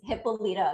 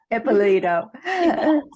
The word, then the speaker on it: Hipolito: I always reach out to Suzaita Hipolito. Am I pronouncing that correctly? Hipolito. Yeah, it's okay. My last name is a little interesting. It's Hipolito. Yeah. Hipolito.